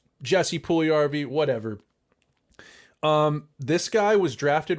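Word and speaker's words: Jesse Puljujärvi: We are talking about Jesse Puljujarvi and his official signing.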